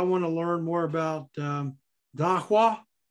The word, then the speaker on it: Dawa: But I want to learn more about Dahwa. Is that how it's pronounced? You said Taqwa? Yeah. D-A-W-A, right? D-A. Dawa. Dawa.